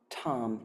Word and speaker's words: Tam: And imagine at the center of her tiny heart is her seed syllable, Tam, T-A-M, the nature of green radiant light, and